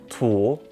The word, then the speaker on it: 土: with the ancient character this character is pronounced tulle and it means soil